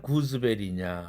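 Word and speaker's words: gooseberry: 그래서 이 단어는 구스베리라고 발음하지 않고 구즈베리, 구즈베리 이렇게 발음한다는 사실입니다.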